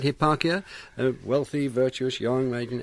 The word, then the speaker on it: Hipparchia: he was wooed by a virtuous maiden called Hipparchia. Is that how I pronounce it? That's right. That's yes. Right, Hipparchia, a wealthy, virtuous, young maiden.